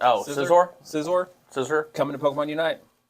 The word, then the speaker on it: Scizor: How do you pronounce it? Scizor?